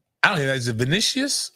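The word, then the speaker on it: Vinícius: Is it Vinicius? How do you say his name? Vinicius.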